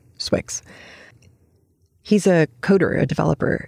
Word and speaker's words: swyx: an article an essay by swix s-w-y-x it's his initials of his Chinese name and his English names put together and he pronounces it swix he's a coder a